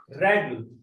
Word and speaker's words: règle: So E is A, but when we put this accent, it become A. Règle. Règle. So here it changed the pronunciation. Accent grave changed the pronunciation of letter E.